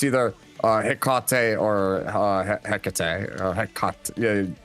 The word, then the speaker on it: Hecate: said, Look, if the Mexicans are gonna call the beer Tecate, I'm gonna call this Hecate, okay?